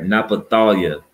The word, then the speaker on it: Naphtali: Now it's pronounced Naphthalia. All right, Naphthalia.